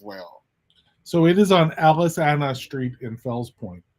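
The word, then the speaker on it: Aliceanna: So, it is on Alice Anna Street in Fels Point. Aliciana. Yeah. Alis, that's that's pronounced Aliciana.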